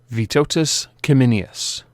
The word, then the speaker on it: Vytautas Kiminius: today we have perp number zero four seven vitotus kimminius i have actually checked the pronunciation it is a lithuanian name yay for